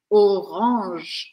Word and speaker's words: orange: céu da boca boca então eu falo orang orange e eu interrompo o som no som do J J eu não vou falar a letra e do final Violet violé Violet é